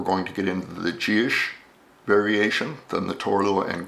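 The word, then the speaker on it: Dithis: It's spelled D I T H I S. Looks like Dus. It's actually pronounced Gish.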